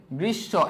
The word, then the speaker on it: গ্রীষ্ম: আবার কি, যদি কি বলছি, যদি কোন শব্দের শেষে মফলা যুক্ত থাকে, সেই মফলা যুক্ত বর্ণের দ্বিতীয় উচ্চারণ হয়, যার কারণে এখানে কি হয়েছে? গ্রীষ্ম। এবং সেখানে কি হয়? সানুনাসিক হয়, হালকা সানুনাসিক।